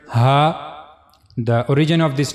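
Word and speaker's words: ه: As you can see in the picture, you have to use the low the lowest part of your throat to pronounce H.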